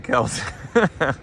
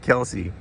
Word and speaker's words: Kelce: I was talking about Jason Kelce. and yes, it's Kelce. It's not Kelsey.